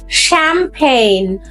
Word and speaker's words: champagne: No, it's champagne. Champagne. CH এর sound এখানে হবে champagne. English is really crazy but easy.